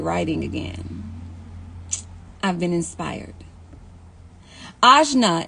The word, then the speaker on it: Ajna: Ajna is how you pronounce my name.